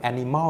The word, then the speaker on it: ANYmal: โดย เจ้า หุ่น ยนต์ Animal นี้ ครับ สะกด ด้วย a n y m a นะ ครับ Animal คล้าย ๆ Animal นั่น เอง นะ ครับ พัฒนา โดย